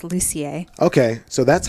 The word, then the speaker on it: Lucier: No, it's French Canadian, so it's Lucier.